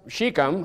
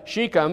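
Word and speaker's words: Shechem: sheikham unto his mother's i'm going to change the way i pronounced it to match brother ryan's pronunciation so i don't confuse anybody so we're going to call it uh chicam unto his mother's brethren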